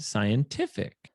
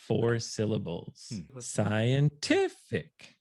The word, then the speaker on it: scientific: when you have uh these common endings for example i see just as we said scientific the syllable before the ending will become stressed scientific scientific scientific come on